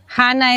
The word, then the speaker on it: Hana: Hana es el nombre, la pronunciación correcta en hebreo que significa la gracia de Dios.